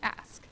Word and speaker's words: ASCC: or the ASCC, or as we like to pronounce it, ASK.